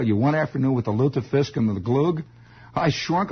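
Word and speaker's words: Lutefisk: wasn't kidding wasn't it that is loop the fisk l-u-t-e with the little umlauts and little things little little crystal balls and chandeliers over to you there luther fisk luther fisk the way it's pronounced and uh well i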